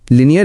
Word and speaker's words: linear: लिनियर equations, लिनियर का असली मतलब। अब हम इस पाठ के सबसे जरूरी शब्द लिनियर को समझेंगे। इसका उच्चारण है लीनियर। गणित मैथ्स की दुनिया में